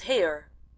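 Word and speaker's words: Haigha: happy his name is hair he pronounced it so so as to rhyme with mayor I love my love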